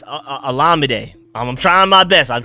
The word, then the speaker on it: Olamide: I'm trying to work on pronouncing his name correctly, because I've been saying Olamide, but it's Olamide.